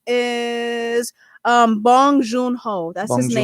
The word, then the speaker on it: Bong Joon Ho: name is Bong Joon Ho.